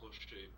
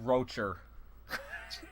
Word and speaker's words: Rocher: Rocher, that's how you pronounce it, right? It's Rocher, but... Rocher. Okay. I will try to do that, Rocher. There's no R. No problem. No, it's just Rocher.